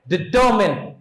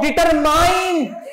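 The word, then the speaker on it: determine: इसका correct pronunciation होता है डिटरमिन. क्या होता है? डिटरमिन. क्या होता है? डिटरमिन. हो सकता है आपने अपने टीचर्स को भी ये कहते हुए सुना हो डिटरमाइन, क्योंकि अब मैं चाहता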